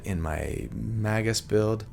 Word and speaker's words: Magus: I know, a lot of you think that Magus is the correct way to say it, but I think it just makes sense to have it sound like magic, whatever.